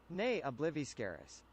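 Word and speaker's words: Ne Obliviscaris: Um, let me see really quick how to pronounce uh pronounce nay. Obliviscaris is obliviscaris. Nay obliviscaris.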